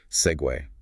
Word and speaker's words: segue: Looks like it should be seg, maybe, or C-G, but it's an Italian loanword, actually, and it keeps its 2-syllable sound. Hair-ar.we. Care-ter.we. Segue. Like the personal scooter thing. Spelled differently, of course. Exactly like that. Same sound.